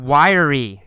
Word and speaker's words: wiry: we see the word wiry it's spelled WI ry but in fact we say it with three syllables y ou re wiry